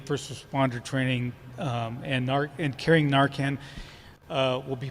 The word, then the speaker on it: Narcan: right so there's questions will park rangers carry Narcan you pronounce it just right all right um and